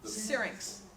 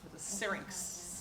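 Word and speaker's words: syrinx: what was that word that they vocalize from singx how do you spell it s y r i n X singx yeah so I think I have oberved this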